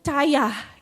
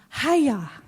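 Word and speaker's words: חיה: Ternyata bacanya gini, haya. Keren ya? Haya. Kalau beda nada artinya beda. Haya, itu beda.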